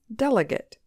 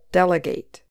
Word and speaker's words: delegate: So the noun form just has stress on the first syllable, delegate. But the verb form also has a little stress on the last syllable, delegate.